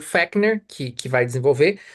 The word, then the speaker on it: Fechner: psicofísica, que foi o Fechner que vai desenvolver. O Lacan não cita ele aqui, mas ele está criticando Fechner, né? Fechner ou Fechner, se escreve com CH, né? Fechner.